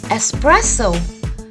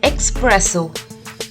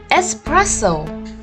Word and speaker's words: espresso: this is a coffee it is called espresso we don't call it espresso spelling might have an X in it but we call it espresso the correct pronunciation is espresso now look at these